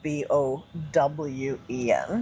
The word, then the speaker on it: Bowen: It's spelled B O W E N. Like Bowen Island.